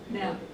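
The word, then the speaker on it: Knag: And Ryan Nag, how do you pronounce his last name? Uh nag. It's It is with G's. K N A G.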